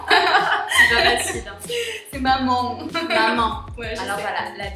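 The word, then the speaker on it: mamão: Et du coup, c'est un son qui n'existait pas en français, donc c'est un petit peu difficile pour les francophones de prononcer correctement le.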